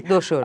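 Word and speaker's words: Dosar: Yeah, I remember seeing Doshar. I hope I'm pronouncing Yes. it correctly. Doshar.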